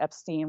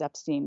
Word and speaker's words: Epstein: Brian changed it to Epstein when he was in the army.